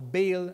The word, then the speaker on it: Baal: worshipped a false god known as Baal, or Baal, as some people would pronounce it.